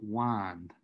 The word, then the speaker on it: wind: behind mind then then it's wind but you would pronounce it wind right just just because you're keeping the sound pattern going more sore before therefore